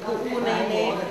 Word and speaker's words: Puʻunēnē: correct, today now they're teaching the kids to pronounce it correctly, Puʻunēnē. I think for us plantation kids, I don't think for us we'll ever be comfortable saying Puʻunēnē.